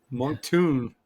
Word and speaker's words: Moncton: Moncton is 3 syllables. Monk Tune. Monk Tune. So it's Tune, Monk like a tune, Tune. like cartoon.